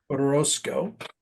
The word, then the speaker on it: Orozco: or is it, I don't know how to pronounce his last name, Orozco, O- Orozco. Orozco, and I knew you would know that, right?